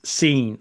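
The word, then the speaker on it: Sin: Now it's spelled s i n but it's pronounced seen like I have seen something. It's the moon god seen.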